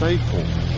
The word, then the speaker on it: Eythorne: And it's not Eythorne, it's Eythorne. It's spelled Eythorne, but it's Eythorne.